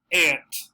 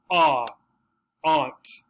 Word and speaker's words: aunt: not all the time the predominant american pronunciation would be this ant aunt this is his aunt this is his aunt the other one ah aunt right this is his